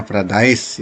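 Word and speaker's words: Paradisaea: Ini bacanya Paradise ya.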